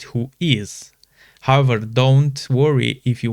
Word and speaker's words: WHOIS: Although written in uppercase who is is not an acronym, it is pronounced who is.